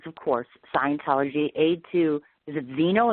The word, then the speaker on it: Xenu: Of course, he has written a book, which is, of course, Scientology, Aid to, is it Xenu? Is that how you pronounce that? Xenu, yes, A to Xenu.